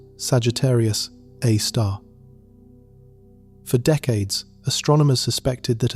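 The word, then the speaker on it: Sagittarius A*: It is called Sagittarius Asterisk, pronounced Sagittarius A star.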